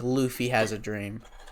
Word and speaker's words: Luffy: I have a dream, just like Luffy has a dream. Don't you mean Luffy? Yeah. I legitimately thought, like, someone told me that it was Lauf.